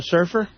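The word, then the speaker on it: Cerf: Well, his surf is spelled C E RF like Bennett.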